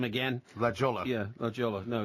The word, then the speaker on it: La Jolla: Yeah, La Jolla. No, it's La Jolla.